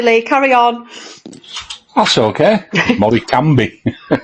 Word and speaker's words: Morecambe: carry on that's okay M cambi to pronounce it right yeah wo game absolutely